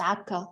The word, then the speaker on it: Acre: from the E in Acre, pronounced Akka, which is in northern Palestine, to the K in Kirkuk, in English it's written Kirkuk, which is in Iraq.